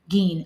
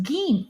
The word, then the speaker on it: Gein: Geen. Okay, thank you, Calbot. It's spelled Gine, but pronounced Geen.